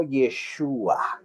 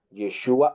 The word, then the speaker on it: Yeshua: de el nombre arameo Yeshua. Y generalmente los de Galilea hablaban arameo, por lo tanto, su nombre en realidad sería Yeshua o Yeshu, ¿ok?